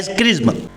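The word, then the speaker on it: XRISM: amazing और spectroscopy mission जिसे pronounce किया जाता है क्रीज एक एक्स रिस्ट्रोनॉमी सैटेलाइट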